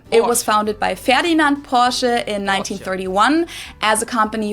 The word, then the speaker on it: Porsche: I've heard Americans pronounce it Porsche or Porsche. In German, we say Porsche. So there is like this Porsche. Porsche. Short a sound in the end.